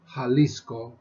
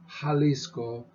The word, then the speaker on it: Jalisco: and it's not pronounced the J in Spanish however is pronounced like our h so we would say in the letter the letter in uh is called a hota hota as in Jalisco Jalisco Don Quixote Jalisco Don